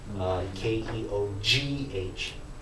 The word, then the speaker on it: Keogh: For example, my last name is Keogh, but it has a very strange spelling, Keogh. Right, but the GH is silent.